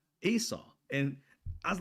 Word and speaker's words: Esau: said like, "And the twin brother's name was." I said, ", my middle name is that twin brother's name, Esau."